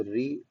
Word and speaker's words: ऋ: तो री दरअसल एक स्वर है जिसका उच्चारण स्थान ऊ के बाद और ए के पहले आता है, और इसका उच्चारण दरअसल री की तरह होता है, जैसे ऋषि, ऋतु और ऋण।